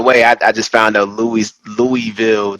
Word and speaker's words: Louisville: Um, so the Louisville, it was, by the way, I just found out Louisville, the S in Louis is silent, which is very weird to me.